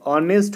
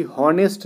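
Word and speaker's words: honest: देखो ऑनेस्ट होता है ना कि हॉनेस्ट नहीं होता है। कुछ लोग ह से क्या करते हैं, इसको इसका साउंड निकालते, प्रोनाउंसिएशन शुरू कर देते हैं ह से, बट ये ऑनेस्ट होता है अ से, ठीक है ना। ऑनर, ऑनेस्ट, ठीक है ना, ये सब चीज़ें अ से।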